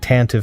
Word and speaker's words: Tantive: That is actually how you say it, by the way. I know that's weird. It looks like Tantive 4, but it's the Tantive.